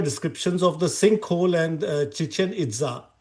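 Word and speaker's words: Chichén Itzá: So at Cananken in Mexico, you found your uh I found your descriptions of the sinkhole and Chichanza. Is that how you uh pronounce it? Yeah, it's Chichanita.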